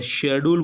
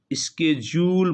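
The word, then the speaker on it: schedule: जबकि American English में स्के जूल बोलते हैं स्पेलिंग शेड्यूल वाली होती है लेकिन उच्चारण यहां बिन होता है उच्चारण होता है स्के जूल एस स एच ई डी यू एल ई स्के जूल British English में स्वीट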